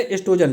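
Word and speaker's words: oestrogen: वो का मतलब वो साइलेंट है एस्ट्रोजन, ठीक है, एस्ट्रोजन या प्रोजेस्टेरोन।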